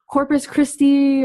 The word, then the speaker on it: Corpus Christi: There's like Corpus Christi, or I'm sure I'm pronouncing that wrong.